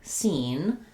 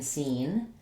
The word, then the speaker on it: scene: C is silent in seen, and the letter E says the E sound. Typically when we have an E at the end of the word, it makes the letter, quote unquote, say its name.